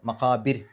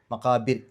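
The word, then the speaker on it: المقابر: മക്കാബിർ എന്നുള്ളതിൻ്റെ അവസാനത്തെ ആ റാഇന് സുക്കൂനിട്ടിട്ട് നിർത്തുക. അങ്ങനെ നിർത്തുമ്പോൾ തൊട്ട് മുമ്പത്തെ അക്ഷരത്തിന് കെസറായതുകൊണ്ട് രി എന്നുള്ള ഉച്ചാരണം കൊടുക്കുക. മക്കാബിർ മക്കാബിർ, റ് എന്നുള്ളതിന് പകരം രി എന്നുള്ള ഉച്ചാരണം കൊടുക്കുക.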